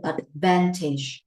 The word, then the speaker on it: advantage: Mấy bạn cẩn thận cái từ advantage. Alright, advantages. Ở đây không đọc là tage nhé, mà là teach, advantageous. Khi mà đến tính từ thì cái âm tage này nó mới là âm a nè.